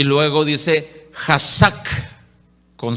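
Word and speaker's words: חזק: Es con K de kilo al principio y luego dice Hazak, con C de casa al final, con K de kilo al principio.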